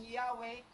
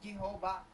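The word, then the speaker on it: Yahweh: While inclining to view pronunciation, Yahwe is more correct way we have retain from Jehova.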